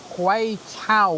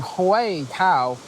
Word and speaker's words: Huay Keaw: and doing my research, the pronunciation Huay Keaw made me think of Newcastle, Huay the lads.